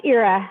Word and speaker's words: Ira: It's Ira. Hi, everyone. Apologies. Everybody Hi, does Ira. it. Don't worry. It's spelled IRA.